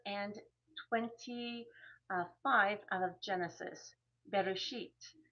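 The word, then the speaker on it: בראשית: Bereshit is how you would pronounce that.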